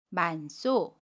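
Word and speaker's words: 많소: 만소를 예를 들면 겹받침 니은 히읗과 첫소리 자음 시옷이 만납니다. 그러면 만소라고 발음해요. 첫 번째 받침 니은은 그대로 발음하고요. 히읗은 첫소리로 이동을 한 후에 첫소리 자음 시옷과 결합하여 쌍시옷으로 발음해요. 그래서 쏘라고 발음합니다. 만쏘, 만쏘라고 발음해요. 우리 그럼 이제 퀴즈 정답 알아볼게요.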